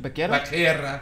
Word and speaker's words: Becerra: As you know, Xavier Becerra, however you say his name, is a big. You sure it's not Becerra? Becerra. Yeah, it's Becerra.